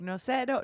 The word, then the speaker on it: Nocero: Again, this is Nocero.